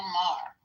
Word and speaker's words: Maher: thing, I see Wayne Brady went after Bill Moyer. How do you say his name? Moyer. Moyer. He's a racist. Bill Maher. Okay. But comic Wayne Brady unloads on Bill Mer.